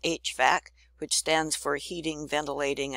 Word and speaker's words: HVAC: in Heating and Cooling is called HVAC that's how you pronounce it HVAC which stands for heating